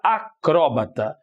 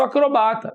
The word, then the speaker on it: acróbata: Do mesmo jeito que você tem réptil ou reptil, você tem acrobata e acróbata. Então, se eu tenho a pronúncia acróbata, tenho aqui a palavra na condição de proparoxítona.